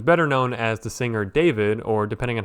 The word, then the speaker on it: D4VD: And so today we are talking about David Burke who's better known as the singer David or depending on how you want to pronounce the spelling deforid.